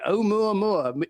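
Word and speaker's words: Oumuamua: We said this before with was it a mu mo very good pronunciation. Yeah. Omu Mua, a Hawaiian name.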